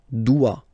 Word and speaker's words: doit: Il, elle, doit. Final T not pronounced. Il doit, elle doit.